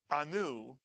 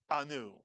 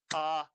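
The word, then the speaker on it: אנו: If you said anu, you would be correct. The entire syllable is anu. And it's not au, it's anu.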